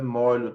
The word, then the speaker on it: molho: Farândola de ladrões, de vadios, feixe de lenha, de capim, girândola de foguetes, molho, vale lembrar que a pronúncia não é mulho, é molho, tá?